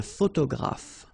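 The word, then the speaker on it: photographe: a photograph so here p and here P pronounce it like f f- f photograph okay same thing here this uh you don't insist on it you only pronounce this F at the end a photograph okay a journalist same thing here you know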